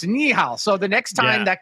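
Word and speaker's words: 你好: just hired him so okay so knee how okay it's knee how so the next time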